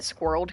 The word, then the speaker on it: squirrel: Some suggest that squirreled could be included, but squirrel is intended to be pronounced with 2 syllables.